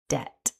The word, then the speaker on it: debt: The pronunciation guidance from the Cambridge online dictionary shows that this word has just one syllable and it's pronounced debt.